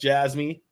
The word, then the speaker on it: Jasmy: Okay, so Sana's Hot Ra says, Jasmy, that's how it's pronounced, Jasmy.